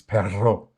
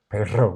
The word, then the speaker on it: perro: Which is perro, perro with r. Bat is perro, but that's just perro. But perro, you got to get your r, like when you learn Arabic or Farsi.